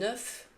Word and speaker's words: œuf: Un œuf, des œufs. Attention à la prononciation. Au singulier, on prononce le F, un œuf, mais au pluriel, le F et le S sont muets, des œufs.